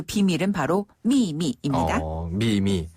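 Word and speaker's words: 秘密: 자, 첫 번째 음은 위에서 아래로 뚝 떨어지면서 세게 발음하고요. 네. 두 번째 음은 약하게 발음하면 됩니다. 미미.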